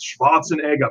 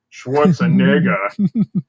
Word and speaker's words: Schwarzenegger: Shenanigans on that Schwarzenegger well Schwarzenegger is how I heard him pronounce it schwartzen EGA people keep saying Schwarz andega Schwartz andega anyway um I'm sure sure